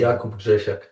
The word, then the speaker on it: Jakub Grzesisk: Remind me how to pronounce your last name. Yakob Jesek.